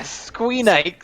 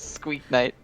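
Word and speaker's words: Squeaknight: this guy yay yeah squeenik squeak knight but there's only one oh i guess because the k knight is silent so it's squeak knight oh sneaky bastard izzy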